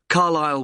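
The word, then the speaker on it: Carlisle: and your address 45 carile way could you spell carile for me sorry it's c a r l i s l e you don't pronounce the S carile way and that's in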